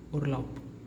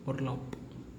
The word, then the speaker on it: Urlaub: whenever a word is ending with B, like this B, then it gives the sound of pa, pa, pa. This pa. In English it is pa, pa, pa, right? So for example, urlaub, we pronounce it in English, but in German we have to pronounce this word as urlaub, urlaub, p, right?